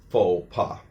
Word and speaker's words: faux pas: Remember, in French, the last letter is often silent. So the X is silent in the first word, and the S is silent in the second word.